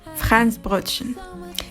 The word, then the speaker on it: Franzbrötchen: It's called Franzbrötchen. Yes, this is how it's pronounced in German.